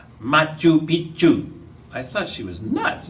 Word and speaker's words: Machu Picchu: "Machu Picchu."